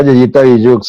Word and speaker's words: yeyitabijoux: Eh, Ella tiene su cuenta en Instagram, Yeyita. Corrígeme, nuevamente, porque siempre se me hace difícil pronunciar tu nombre de Instagram, De usuario. de usuario. Arroba Yayita Billu. Arroba Yeyita Billux.